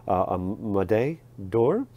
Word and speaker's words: Médaille d'Or: Médaille d'Or.